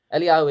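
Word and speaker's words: אליהו: it elah Yu elah eliahu is the Hebrew reading of his how would I know that when I look at the word that reads to me as Elijah how would I know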